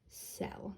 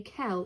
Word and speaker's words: cell: The C is coming before an E, so it's going to be soft, meaning it's going to be pronounced like a S. This does not say kel, it says cell.